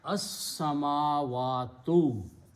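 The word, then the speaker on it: السماوات: And seen is a shamsi letter. You do not pronounce the lam because of the seen. So you pronounce as-samawatu.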